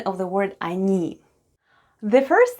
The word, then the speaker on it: они: Let's have a look at the spelling of the word они. The first sound is O. It's unstressed and is pronounced as A.